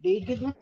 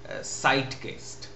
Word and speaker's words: Zeitgeist: I found out that they want to pronounce it as Zeitgeist, not the Z but the S.